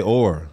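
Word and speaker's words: אור: Skin is literally almost the exact same word as light in Hebrew. It's pronounced the exact same. You say or, that's skin.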